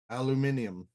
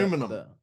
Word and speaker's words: aluminium: Although if you're English, then you're like Eddie Izzard and you pronounce it herb because there's a fucking H in it. Aluminium. Yep, aluminium. But yep, Aluminum.